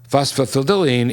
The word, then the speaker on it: phosphatidylserine: This other ingredient is pronounced phosphatidylserine.